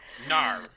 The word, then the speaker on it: Gnar: Gnar. That's literally what is how his name's pronounced. Gnar.